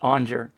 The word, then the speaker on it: Aunger: So my last name is Aunger. It's pronounced Aunger.